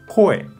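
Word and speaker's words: 声: Kunyomi pronuncia koe. Koe es la palabra, ¿no? La voz de kunyomi, koe.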